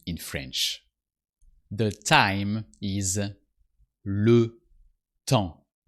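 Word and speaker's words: le temps: French the time is Lu Tong you don't pronounce the p and the S because they are the last consonants of the world and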